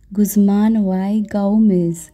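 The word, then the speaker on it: Guzman y Gomez: যেহেতু এটা মেক্সিকান দোকান, নামটাও মেক্সিকান, আবার প্রোনাউন্সিয়েশনটাও এরকম হবে, গুজমান ওয়াই গাউমেজ।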